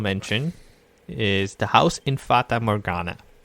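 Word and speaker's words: Fata Morgana: is the house in fatah morgana which is always pronounced yes i always thought it was fatal morgana i don't know why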